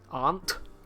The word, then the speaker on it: aunt: there you go so is ant pronounced on so it's more if you were to speak let's say not even queen's english but you know just your typical kind of base british it's more on aunt you know as an